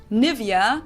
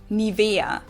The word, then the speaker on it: Nivea: English native speakers usually say Nivea. Yes. Nivea. In German, we say Nivea. Nivea. So the emphasis is on the E.